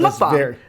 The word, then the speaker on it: mukbang: So it's mukbang. Yeah, it comes from Korean and it literally means eating show.